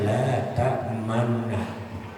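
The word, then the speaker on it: لا تأمنا: Seperti di dalam surah Yusuf itu. La ta'manna, tulisannya la ta'manna. Tapi harus dibacanya dengan la ta'manna. Jadi mulutnya itu monyong, tetapi terdengarnya tetap la ta'manna. La ta'manna. Sebab asalnya memang la ta'manunna.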